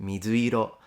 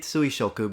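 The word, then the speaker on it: 水色: It's just that they would be pronounced mizuiro, so color of the water. You can read it suishoku, but I've heard most Japanese read it mizuiro.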